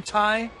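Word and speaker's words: Tighe: Congratulations for the Hidekin Light upgrade winners, Donna Tai, who her name is spelled T I G H E.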